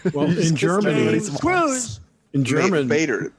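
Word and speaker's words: Baader: Bader. Like Bernie Madoff.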